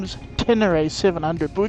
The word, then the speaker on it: Ténéré: we call it T7 the correct name is Tenner 700 but we call it a T7 because quite frankly it's four syllables less and think how much time you